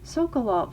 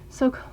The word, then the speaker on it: Sokolov: The only obvious downside of I'm saying his name wrong. Sokolov. Oh my god. Sokolov.